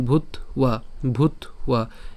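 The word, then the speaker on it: ভূত্বা: ভূত ঠিক আছে অর্থাৎ এইখানে ব্যটি সেটি হচ্ছে অন্তস্থ যার উচ্চারণ উর মতো তাহলে এর উচ্চারণটা কেমন ভূত ভূত এরপর ভবিতা বান ভুইয়া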